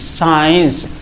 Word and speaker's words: science: एस के बाद अगर कभी सी आए तो ये सी जो है साइलेंट रहता है, इसकी कोई हिंदी नहीं होती है, सिर्फ इसी एस को हम पढ़ते हैं।